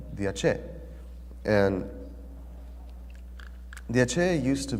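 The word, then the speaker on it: Aché: So this is how you pronounce Ache.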